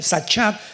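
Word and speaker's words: שחת: Sahat con s de Samuel y ch. Sahat. Sahat se pronuncia, que significa corrupción moral.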